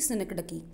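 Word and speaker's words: synecdoche: जैसे वो जो मैंने आपको क्रिकेट वाला एग्जाम्पल दिया था वो यहाँ आया मिलेगा, वो थी सिनक डकी। इसकी प्रोनाउंसिएशन ध्यान से देखिएगा, क्या बोलते हैं इसको?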